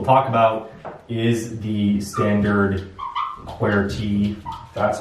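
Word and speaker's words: QWERTY: lot of people talk about is the standard query that's how you pronounce it and the story here is that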